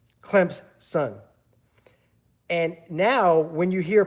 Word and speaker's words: Clemson: person tell him that there is no Z in Clemson and and you actually pronounce pronounce it more of the P Clemson if you're from the state of South Carolina or an alum or a fan hardcore fan of Clemson that's how you pronounce it clamps son and now when you